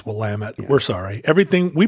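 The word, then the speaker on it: Willamette: not from the Northwest you just think it's Willet and we should make a point for the future oh no it's willamet we're sorry everything we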